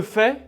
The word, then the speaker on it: fais: elle fait on fait a I ça fait le son e comme le mouton nous faisons attention a